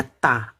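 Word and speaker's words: 大: Kalau nggak ada titik bacanya ta, artinya besar ya.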